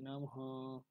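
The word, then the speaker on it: নমঃ: নম এটা বিসর্গ আছে আমরা জানি বিসর্গ থাকলে একটু বাংলায় জড়ি উচ্চারিত হয় অনুযায়ী পূর্ববর্ণ ওকার উচ্চারণ করে শেষে অকে নিয়ে আসতে হয় তো হ কে নিয়ে আসতে হয় হ এটা একটু ওই ভাবে উচ্চারিত হবে না হালকা উচ্চারণের সাথে চলে আসবে তাহলে বাক্যটির পাঠ উচ্চারণ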